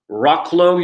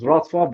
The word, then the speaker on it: Wrocław: He has achieved his master's level in global communication from Rocklow University, correct me if I'm wrong, in yeah, Poland. it's pronounced as Wrocław, but that's Ro- fine. Right. And currently Wrocław.